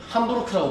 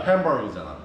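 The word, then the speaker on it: Hamburg: 우리는 그 함부르크라고 불러주잖아. 옛날 손흥민이 처음에 들어갔던 도시, 그지? 걔들이 부르는 이름 뭐야? 햄버거잖아. 햄버거. 그걸 햄버거라고 부른다고. 우리는 함부르크라고 불러주는데 이상하게 부른다.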